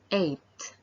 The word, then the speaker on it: eight: the um yeah so the g here is silent eight the second word is